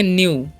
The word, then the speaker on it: knew: यहाँ पर KNEW, तो इसे हम क्या पढ़ेंगे, न्यू, ठीक है। यहाँ पर के साइलेंट होता है।